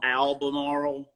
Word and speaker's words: Albemarle: Albemarle, North Carolina. Uh, Albemarle, North Carolina. Am I pronouncing Albemarle? It's a yes, mouthful. Albemarle.